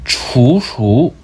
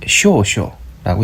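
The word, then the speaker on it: 處暑: 환경 150도쯤에 태양이 위치하고 중국어로는 추수, 일본어는 쇼쇼라고 있죠.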